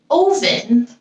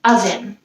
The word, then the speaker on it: oven: says name for this one we don't read ovin we say it as oven the last one is live we don't read